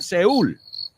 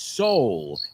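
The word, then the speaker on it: Seoul: Just be careful with the spelling of it in English, because it's not Seúl. It's soul. S-E-O-U-L.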